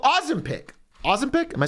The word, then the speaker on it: Ozempic: And so here in beautiful Denmark, which I've always said, Copenhagen, Denmark, they finally come out with a drug called Ozempic.